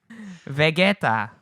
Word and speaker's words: Vegeta: Vegeta, or if you would read it in English way, Vegeta, like the fucking Dragon Ball Z character. There's no way around it. It's literally Vegeta. It's literally spelled the same.